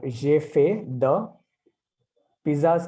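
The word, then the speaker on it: j'ai fait des pizzas: तो जेफे द पिज्जाज का पिज्जाज ही होगा, बट लास्ट का एस प्रोनाउंस नहीं होगा.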